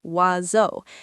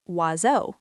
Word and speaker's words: oiseau: It has seven letters and sounds like "wazo".